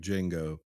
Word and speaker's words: Django: your name he's like Django the D is silent he goes I know